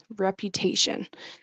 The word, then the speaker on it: reputation: Reputation. And you'll notice that I'm trying to get in on both. There we go. So rep you, it's like the word you.